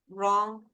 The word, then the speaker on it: wrong: So remember, the word, the W, you don't pronounce it in many words. Right, wrote, wrong, answer is mute.